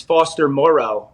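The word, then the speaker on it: Foster Moreau: for people to pay attention to and it's foster morrow shout out to will compton for the proper pronunciation of that but you know the the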